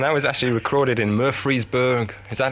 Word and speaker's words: Murfreesboro: And that was actually recorded in Murfreesboro. Is that how you pronounce it?